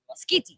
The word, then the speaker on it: Schitti: And I looked up how to pronounce the artist's name. Valerio Schitti, right? Skitty.